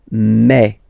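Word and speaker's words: mes: aspect of it then remember that this a s here combined will give you the sound e okay so you'll pronounce it like me me me okay the so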